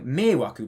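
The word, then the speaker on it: 迷惑: And he started saying meiwaku, because when you pronounce meiwaku in isolation, it's a tamataka, meiwaku.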